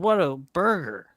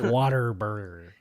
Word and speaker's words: Whataburger: people say it wrong it's not water burger it's what a burger what a burger because when you bite it that's what you say you're like man what